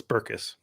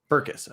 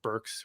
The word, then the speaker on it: Berckes: pronounce your last name it's two syllables so it's burkus berkus okay yeah so don't